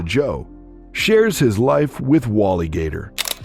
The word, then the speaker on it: Joie: Joseph, or Joe as he prefers to be called, which is pronounced similar to Joe, shares his life with WallyGator, an emotional support animal like no other.